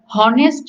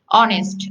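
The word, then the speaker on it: honest: এখানে এইজ এর উচ্চারণটা এটা কিন্তু হনার না, হনেস্ট ম্যান না, হনারেবল ম্যান না, এটা কিন্তু কি আওয়ার। আমরা ছোটবেলা থেকে পড়ে এসেছি আওয়ার, অনেস্ট, অনারেবল। এটা যেহেতু ও এর মতো উচ্চারণ আসছে, তার মানে ভাওয়েলের মতো,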